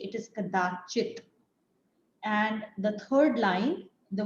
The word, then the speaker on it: कदाचित्: There are two things to note when you're pronouncing this shloka. In the first line, it is not kadachi, it is kadachit.